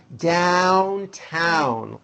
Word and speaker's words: Downtown: have to remember that even though down and other words like it are spelled with an O, you still attack the vowel with that A sound in hat. Downtown.